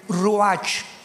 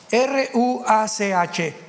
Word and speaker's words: ruach: Apunten todos ustedes, los que les interesa en su Biblia, la palabra espíritu, que la palabra se escribe ruach, R-U-A-C-H, ruach, que es la palabra espíritu.